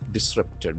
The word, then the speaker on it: disrupt: It has got two syllables and the accent falls on the second syllable.